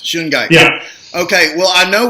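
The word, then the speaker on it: shungite: do you spell that sungai how do you spell that it's SH u ng ite okay that just like it sounds shooting guy yeah okay well I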